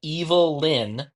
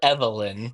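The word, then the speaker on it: Evil-Lyn: it all started when evil Linn or Evelyn but it's spelled evil hyphen Lyn um EV for those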